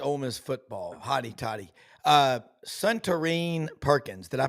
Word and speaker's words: Suntarine Perkins: Suntarine Perkins. Did I pronounce Yeah, that correctly?